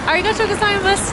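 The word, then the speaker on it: ありがとうございます: And I practiced when I got off the bus, I said, Arigato gozaimasu.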